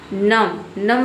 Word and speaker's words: नम: यहाँ पे देखिए एम के बाद जो बी आया है, बी लेटर साइलेंट है, यहाँ पे बी को हम प्रोनाउंस नहीं करते हैं। किसी भी वर्ड में अगर एम के बाद अगर आपको बी दिख जाता है तो यहाँ पे बी लेटर साइलेंट रहता है।